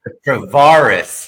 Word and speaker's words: Travaris: And thank you for pronouncing your name correctly because obviously Travaris Travaris I tell people it's bar life bar, but I've heard every variation.